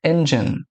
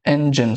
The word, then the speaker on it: engine: Todo mundo fala, mas é engine. Então mostrou ele ali falando engine. Engine são duas sílabas e não três, como as pessoas costumam falar engine.